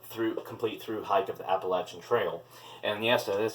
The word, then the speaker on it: Appalachia: It's like you're gonna say, hey, it's like you're saying, hey, if you mispronounce that one more time, I'm gonna throw an Appalachia. Okay, that's the way to pronounce it.